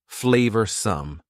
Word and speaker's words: flavorsome: Notice the pronunciation. Two schwa sounds there. Flavorsome.